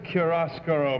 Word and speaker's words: chiaroscuro: Number 2, what does chiaroscuro mean in connection with paint? That's what I meant. How do you pronounce that? Chiaroscuro.